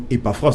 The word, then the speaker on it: Epaphras: Ça se prononce Epaphras tout simplement. Epaphras. Oui, E-P-A-P-H, P-H qui font F.